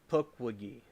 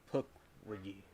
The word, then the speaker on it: Pukwudgie: Pukwudgie. Thank you. All right, that's the correct pronunciation of something I said before. Pukwudgie.